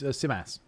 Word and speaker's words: Simas: Be honest, Simus. Simus? I think he'll win. Did we just... Sorry, he clarified what it was. Was it Simus? Yeah. It's Simas.